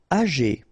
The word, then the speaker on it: âgé: Âgé. Okay, E accent aigu here.